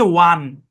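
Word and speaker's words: one: 1 থেকে 19 এটার উচ্চারণ হচ্ছে ওয়ান। ওয়ান মানে হচ্ছে এক, ওয়ান। বুঝছেন? ওয়ান, এটা নিয়ম অনুযায়ী ওন হওয়ার কথা ছিল, কিন্তু এখানে কোনো নিয়ম টিয়ম খাটবে না ভাই।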